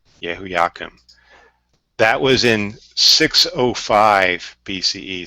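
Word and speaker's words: Jehoiakim: I believe it is pronounced Yehoiakim. Yehoiakim.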